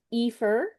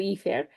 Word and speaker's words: IFER: which is often called Epher uh which is how you might pronounce it in Spanish, right? Alondo Ephair.